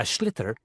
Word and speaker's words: sliotar: this ball called a sliotar. That's s l i o t a r. So, it's not spelled the way it's pronounced.